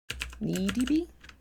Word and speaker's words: NeDB: I pronounced it letter by letter as an acronym for Node Embedded Database, NEDB.